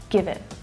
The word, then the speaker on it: give it: And notice how it's unstressed, so it reduces down to the schwa sound, give it. And also that T is a stop T, which means that I'm not fully pronouncing it, I'm not letting the air go afterwards. I'm not saying give it, but give it, give it. So it's stopping, I'm not releasing the air.